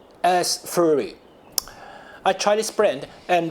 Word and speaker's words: Astrhori: Yes, how to pronounce it? Astrhori. Astrhori.